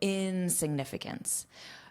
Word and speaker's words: insignificance: And notice the syllable stress is on that in. So insignificance.